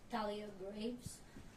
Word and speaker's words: Thalia Graves: Do you wanna pronounce her name? Thalia Graves.